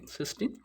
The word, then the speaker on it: cystine: So the spelling is different, the pronunciation is same, cysteine.